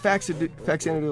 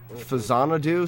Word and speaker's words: Faxanadu: Just got Faxanadu last week. You can pronounce it Fazanadu. Some people do, but they're wrong. Sounds gross. Don't say it that way.